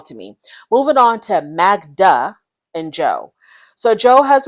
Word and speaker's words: Magda: So the producers kind of get on him, like, why do you say Magna instead of Magda?